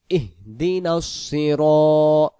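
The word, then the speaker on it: اهدنا: আমরা যদি পড়ি এখানে ইহিদিনাস ইহিদিনাস কেউ পড়ে ইহদিনাস তাহলে এই হাক্করটা সুন্দর করে আদায় হয় না সুন্দর করে আদায় হবে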